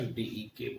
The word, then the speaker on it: dec: हम लोग नॉन और 10 को हम लोग डेक। DEC लिखते हैं लेकिन प्रोनाउंसिएशन DEK बोलते हैं।